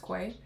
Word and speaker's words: Quay: So, this is Quay uh KWE Quay pronounced Quay.